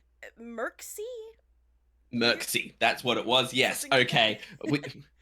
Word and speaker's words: Mircsy: We are doing the animatics to, I'm going to butcher the name, Panda. How do you say the name? Mircsy? Mircsy.